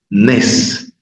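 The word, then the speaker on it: נס: La nun, la sameh, una vocal tsere, vocal larga tsere, nes, nes.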